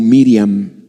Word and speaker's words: Miriam: dios eligió a maría que en el nombre original se pronuncia como miriam dios vio el corazón de